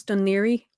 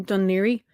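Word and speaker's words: Dún Laoghaire: the king there's yeah there's about 15 ways different ways people try to pronounce it and every time i hear someone try to pronounce donnery other than don leery like my soul dies a little bit so that's why i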